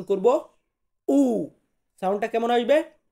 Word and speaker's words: u: এরপর আছে ইউ, এটাকে কিন্তু আমরা উচ্চারণ করে থাকি ইউ, কিন্তু ইতালিয়ান বর্ণমালাতে আমরা এটাকে উচ্চারণ করব উ, সাউন্ডটা কেমন আসবে উ, উ।